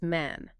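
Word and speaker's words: من: So the word for I or me is man, M-A-N. In Iran, that short eh has drifted toward an A sound, sounding closer to mean, but Dari stay sharp, man.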